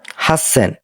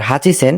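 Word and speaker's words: 八千: হচ্ছে আমাদের আরেকটি ব্যতিক্রম হাসন এটা এটা হওয়ার কথা ছিল আমাদের হাচি সেন কিন্তু এটা ব্যতিক্রম এটা আমরা উচ্চারণ করি হাসেন তো হাসেন মানে কি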